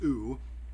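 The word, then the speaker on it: OOO: Okay, now this is a little goofy, but O-O-O, which she pronounces ooh, stands for omniscient, omnipotent, and omnibenevolent.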